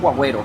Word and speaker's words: guargüero: Bueno, así se escribe, guarguero, pero le dijeron guagüero.